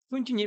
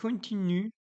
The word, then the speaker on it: continue: Prononcez bien le ü. Ha, continue. Ü'nü deyir, ü kimi tələffüz edin. Continue. Bu continue fiili. Continue. U'nu U kimi tələffüz edin deyir.